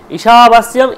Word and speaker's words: ঈশাবাস্যম: ঈশাবাস্যম ইদম সর্বম, ঈশা, ইটা হচ্ছে দীর্ঘ, ইটা হচ্ছে আমার দীর্ঘ, এই জন্য দীর্ঘ উচ্চারণ করতে হবে।